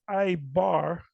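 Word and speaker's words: עברי: H 5680 every every there's no V in Hebrew every instead of the V it's a b and it's not a it's I bar I bar ya ibaya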